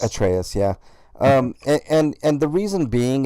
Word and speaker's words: Atreus: I'm also going with Kratos and Atreus because is that how it's pronounced? Atreus? Atreus, yeah.